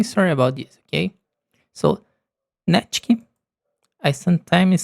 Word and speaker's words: Natkyn: And when I did the test runs, I said sometimes Nikit instead of Natkyn. Okay? So, I will say sorry if I say the name wrong and then when you hear the pronunciation, please remember that is Natkyn and Vexite.